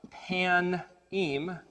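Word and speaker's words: פנים: The word showbread is actually pronounced pan-im, and the word is pei-nun, yod mem, the yod mem being the plural ending of pei-nun, which is pan.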